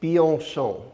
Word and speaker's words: Bianchon: His family name, his last name is pronounced Bianchon.